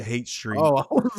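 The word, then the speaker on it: Haight Street: hipsters and it's like it's spelled like Hyatt Street, but you pronounce it Hate Street.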